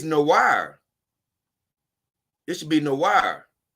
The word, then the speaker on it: noir: he said it's good it's pronounced noah i know why is it noah okay i guess it's noah since it's a french word black oh no but if it's a french word it's no wire this should be no